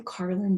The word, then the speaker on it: Carlyn: as well yeah um it's just my name carlin it's spelled c-a-r-l-y-n dot com and there you